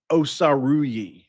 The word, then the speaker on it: Osaruyi: Um, Paul Paul Osaruyi is how it's pronounced.